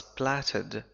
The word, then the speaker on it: plait: It was plaited with. كلمة plait تعني ظفيرة. لاحظ النطق plait. Plait رغم أنها تكتب على شكل plate.